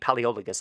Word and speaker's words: Palaeologus: Once the Crusaders moved on, Emperor Michael Palaeologus, these Greek names are not easy for me. Palaeologus, I believe, is how it's pronounced.